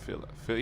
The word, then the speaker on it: filet: Filet Yeah, no, the Filet-O-Fish, but the Filet. Filet? Filet. F I L L E T, but you pronounce it French-like, so So, a filet.